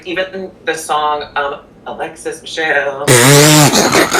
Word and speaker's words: Michelle: I feel like even the song Alexis Michelle, your last name, it rhymes with hell.